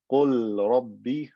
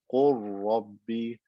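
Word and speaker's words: قل رب: So instead of saying qul rabbi, I say qur rabbi, qur rabbi. I merge the lam into the ra and it becomes one ra with shadda. Qur rabbi.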